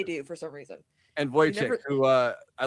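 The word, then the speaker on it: Wojciech: uh guy is is spelled uh wo j c i c h or c ch like is what is so so in my head I'm like wo check yeah there you go I mean that's yeah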